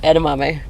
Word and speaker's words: edamame: pronounce e d a m aame yeah okay edamame how do you pronounce it that was right I didn't pronounce